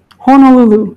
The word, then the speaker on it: Honolulu: People who know me, I am a stickler for pronunciation of Hawaiian words. Yes, it is. We are in Honolulu. Honolulu.